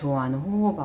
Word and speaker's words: jojoba: Also it includes about 7% of jojoba oil as well hehe i love jojoba oil yes that's how u pronounce it ;) *tones neck* The key thing